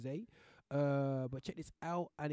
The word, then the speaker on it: Xay: But it's XAY. I believe it's gonna pronounce it with Zay.